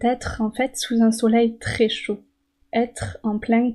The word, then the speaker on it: soleil: peut-être que vous connaissez mais la prononciation peut-être difficile pour un apprenant en français le soleil ye vous entendez le ye le ciel bleu la